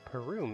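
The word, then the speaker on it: Parum: Okay, Perum is how you say that.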